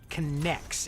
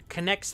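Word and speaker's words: K'NEX: but if you remember a toy line called connects it was spelled like K apostrophe n-e-x those were some of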